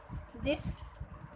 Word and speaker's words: the: THE पढ़ते हो ना, तो इसका 2 उच्चारण होता है, द और दी. जैसे कोई भी वॉवल के आगे, कोई भी वॉवल जिससे वर्ड शुरू हो रही है उसके आगे अगर आप सामने बिफोर एनी वॉवल वर्ड आप लोग अगर द देखते हैं, THE लिखा है, तो उसका उच्चारण दी कीजिए.